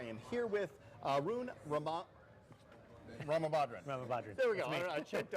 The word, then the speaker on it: Ramabadran: Ramabadran. There we go. I choked on it. Yeah.